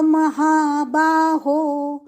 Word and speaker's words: महाबाहो: वक्षा हित काम्यया भूयव भूर्घ भूव महा महाबा हो महा दीर्घ बा दीर्घ महाबा हो दीर्घ महाबाहो